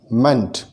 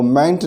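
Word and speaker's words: -ment: और वो है MENT, मेंट। इसका जो प्रोनाउंसिएशन है वो मेंट ना होकर मंट होना चाहिए, और कई सारी वर्ब्स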